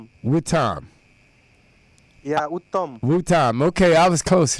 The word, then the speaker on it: Uttam: So Utah, am I pronouncing that right? Utah? yeah. Huh? I could not get you properly. Oh, okay. I said, am I pronouncing your name right? Utah? Utah? Uttam.